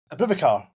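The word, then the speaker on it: Aboubakar: But the biggest conspiracy is cuz Et's president who sager because who's like Akabal or how do you say his name? Abubakar.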